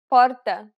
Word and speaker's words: porta: If the R is not followed by a vowel, and if you are familiar with other dialects, you can use different accents to pronounce it properly without having to use the rolled R sound. Listen to the following examples. Porta, porta, porta. Ler, ler, ler. Check out lesson 6 to